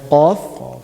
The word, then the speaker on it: ق: Then we have Qaf, which is pronounced The tongue meet in the soft palate. good. The back of the tongue Meet in soft going palate. up and touching the soft palate.